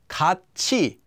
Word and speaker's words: 같이: Kat e, kachi, kachi.